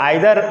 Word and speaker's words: either: इनको यह जो आइदर ये प्रोनाउंसिएशन जो हम कर रहे हैं, इसको ईदर भी कहते हैं और इसको नीदर भी कहते हैं। अधिकांशतः आपका ये आइदर और नाइदर ही पुकारा जाता है, इसका उच्चारण किया जाता है।